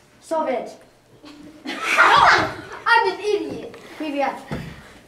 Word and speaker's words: Привет: Привет. Not Soviet.